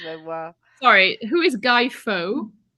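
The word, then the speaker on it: Fawkes: Sorry, who is Guy Faux? It's Fox, spelled FAWLKS.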